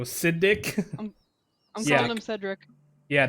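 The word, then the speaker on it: Siddic: say that acidic cedric it's s-i-d-d-i-c so siddik i'm telling him cedric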